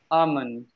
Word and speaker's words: almond: can you say almond almond L is silent yes exactly try this